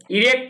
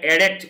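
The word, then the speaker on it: erect: ইরেক্ট মানে উঠানো, মানে বেড়া দেওয়ার ইংরেজিটা আমরা বলে এরেক্ট উচ্চারণ হবে। আমি ভুল বললাম উচ্চারণটা, এরেক্ট হবে উচ্চারণ। এখানে ইরেক্ট হবে না, কিন্তু এরেক্ট এরকম হবে। প্রেজেন্ট পারফেক্ট টেন্সে হ্যাভ এর পরে ভি3 বসে, ভি3।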